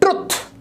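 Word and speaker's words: truth: Next है ट्रुथ। एकदम से बोल देते हैं ट्रुथ। ट्रुथ एंड डेयर खेलेंगे, ये ट्रुथ नहीं होता, ये होता है ट्रूथ।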